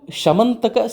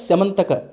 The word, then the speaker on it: ಶಮಂತಕ: ಬರತಕ್ಕಂತಹ ಈ ಶಮಂತಕೋಪಾಖ್ಯಾನಂ ಇದಕ್ಕೂ ಶಮಂತಕ ಶಮಂತಕ ಎರಡು ಉಚ್ಚಾರವು ದೇಶಾಚಾರ ಪದ್ಧತಿಯಲ್ಲಿ ಇದೆ ಈ ಶಮಂತಕ ಉಪಾಖ್ಯಾನವನ್ನ ಯಾರು